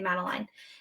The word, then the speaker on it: Madeline: way you can say Maline or you can say mateline and um I went